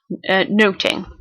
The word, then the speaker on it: nothing: the word nothing so in Shakespearean times it could have been pronounced noting again a lot of